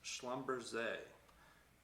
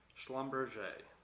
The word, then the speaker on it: Schlumberger: to look at is schlumberg i always say that wrong my bad um i butcher their name no matter how many times i try to say it i always butcher it schlumberger okay let's go for